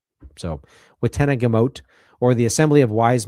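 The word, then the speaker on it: witenagemot: It's the wetenna yamote I think or it can be pronounced watenna gamont but it's uh apparently the g can be a y. So wenna gimmote or the assembly of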